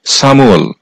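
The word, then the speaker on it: 삼월: তথা মার্চ মাস আর এই সামু এর সঠিক উচ্চারণ হবে সামুয়াল সামুয়াল অর্থ হচ্ছে মার্চ মাস সাউল সা অর্থ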